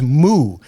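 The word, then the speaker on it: moue: Good word of the day is moo. Now, I looked this up, and I know I'm pronouncing this right.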